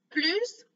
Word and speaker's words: plus: pause, dans ce cas-là, on va prononcer la lettre S à la fin.